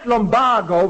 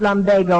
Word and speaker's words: lumbago: right uh I had lombo when I came to Chicago Mr SCH that word is pronounced Lambo or they changed it recently they never changed it it's always been pronounced lumbago according to Webster all right but I